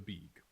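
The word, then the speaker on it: BBEG: BB EG for short, but it's pronounced bab.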